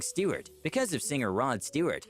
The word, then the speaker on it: Stewart: a hint by saying Stewart, because of singer Rod Stewart. The problem is that she didn't know how to pronounce Stewart correctly. Stort.